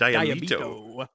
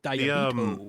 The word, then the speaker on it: Diabeto: way he says it diabo he really pronounces the consonant it's Snappy it's sharp diabo the fan art for